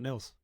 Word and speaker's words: Nils: Neils n LS my mom always says it's Hills Thrills pills Nils and I'm like all the other things mom have two L's um if you would give me two L's it would help say my name right but uh so it's like Hill thrill spills but with one L so n LS